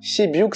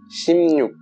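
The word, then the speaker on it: 십육: a rien à voir, ça se dit shimnyuk. Même si oui, ça s'écrit shibyuk et qu'on a envie de le dire comme ça, mais vraiment, shibyuk ça veut rien dire du tout. La prononciation c'est bien shimnyuk.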